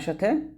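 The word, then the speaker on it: ث: এটা সাটা হচ্ছে সা এটা জিহ্বার আগাটা কোন ভাবেই মানে কোন ভাবে আপনি নিচের দাঁতে লাগাবেন না এটা উপরের দাঁতের আগা লাগাবেন পাতলা করে সা এরকম ভাবে এটা খুবই গুরুত্বপূর্ণ আমরা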